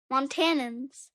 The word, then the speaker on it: Montanans: for example Montana Montana montanans no just montanans montanans I know it's montanans but I can never pronounce it them like montanans Montana zinin whatever